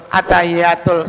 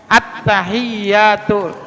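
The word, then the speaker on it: التحيات: kayak Fatihah hati-hati abbahiyatul attahiyatul yaknya ada tasjid juga tuh attahiyatul panjang hati-hati itu bacanya kalau tasnya berarti eee bisa juga maknanya berubah attahiyatul atahiyatul salah ah jangan jangan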